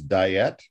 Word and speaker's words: Diyet: by a a yukon performer her name is diet diet how do you spell that e-i-y-e-t and she's got a band called